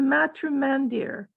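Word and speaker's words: Matrimandir: see that bev can you read it sure the spiritual center of the city is the matrum mandir or house of the mother you pronounced it correctly oh sorry that's really cool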